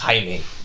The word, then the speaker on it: Jaime: is a guy named Jaime Reyes yes it's spelled like Jamie yeah it's pronounced Jaime yes and he was